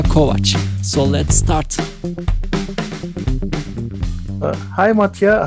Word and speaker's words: Matija: i'm really curious who is who is mattia matia is it how do you pronounce it yeah yeah that's that's right you